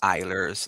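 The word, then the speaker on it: Eilers: Yeah, it's spelled E I L E R S and it's pronounced Eers like eyeball.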